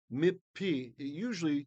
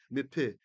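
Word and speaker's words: מִפִּי: Mipi, it typically in ancient times would be pronounced as two pes there. Although going with the Sephardic Israeli pronunciation, we'll just kind of go through that, brush through that.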